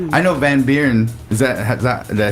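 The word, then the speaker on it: Van Buuren: I know Van Beern.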